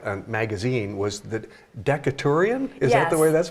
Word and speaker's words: Decaturian: And then the school newspaper, which looks more like a magazine, was the Decaturian? Is that the way that's pronounced? Yes, the Decaturian is still published to this day.